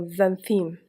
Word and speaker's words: xanthine: For example, xanthine. Otherwise, it will be pronounced like X.